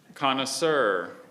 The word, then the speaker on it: connoisseur: Vilipend is spelled Vilipend. Oh, good God. Connoisseur or connoisseur.